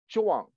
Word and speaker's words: Zhuan: And for those who know a little bit of Chinese, the G in alphabet transliteration is pronounced like a K, like in kangaroo. So it's Gongyang Zhuan, Z-H-U-A-N.